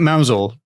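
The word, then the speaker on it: Mousehole: was then mousehold for any of I I'm pronouncing it mousel because it's written mouse hole it is mouse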